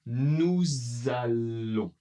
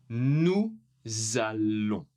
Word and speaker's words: nous allons: Donc ici, pour nous, la prononciation sera nous allons. Nous allons. Le S à la fin n'est pas prononcé, mais ici, il faut la liaison.